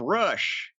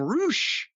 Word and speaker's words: Rush: comes the debut of Rush. But they were calling him Roosh. But it's spelled R-U-S-H.